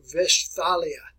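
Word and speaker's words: Westphalia: here folks all right in german the w's are always pronounced as v's so vestalia all right with our a pronunciation we make it a long a ah ah a pronunciation such as that and kind of draw it out a little bit west or vespalia all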